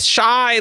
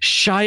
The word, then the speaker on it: Shai: is my secret identity Shai Ariel yeah the M born serial killer Shai lelel very good oh I believe it's supposed to be pronounced Shay actually right I'm not gonna